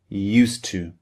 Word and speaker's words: used to: The spelling u s e d used and t to o to because we have a d at the end of used and a t at the beginning of to these two sounds merge together in English.